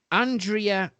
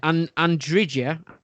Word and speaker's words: Andrija: Andrea. This is a man, by the way. Andrija, I think that's how you say his name.